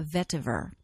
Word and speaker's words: vetiver: essential oil on our top 10 list is vetiver I have seen it spelled with a tee at the end but generally it is not have the tea but it's always pronounced a vetiver this is a incredibly grounding earthy oil this